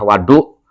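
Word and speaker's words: وَضوء: Tapi lamun wawi dipacai fathah wadu itu adalah alat alat untuk berwudu.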